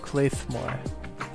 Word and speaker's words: Claidheamh Mòr: The TF2 Wiki says that's pronounced Claidheamh Mòr.